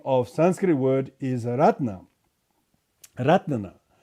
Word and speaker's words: Ratna: The Ratna in Pali, in Thai they call Ratana. Thai is very cute, Ratana. Thai really pronounce the vowels very clearly. Ratna. In Sanskrit it's Ratna. In the Pali, Thai version of the word Ratana is Ratana.